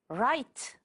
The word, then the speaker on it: write: the p is silent write the W is silent teacher the r is